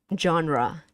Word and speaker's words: genre: Genre. Yes, that's how you say it. One word, but two sound. Two sound. It's not just genre. It's not. It's genre. So two sound.